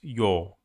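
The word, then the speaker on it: ё: Russian lesson here so the next letter is like the same uh the same like uh year but it's yo yo so yeah yo yo you just the same e but you write on the top of it two points like two points here and here two points yo at this one I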